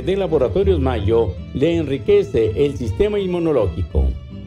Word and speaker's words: Mallo: Y Mayo se escribe como gallo, LLO, Laboratorios Mayo.